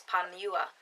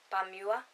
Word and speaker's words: Pamua: So I think it's Pamua. Pamua is how you pronounce it.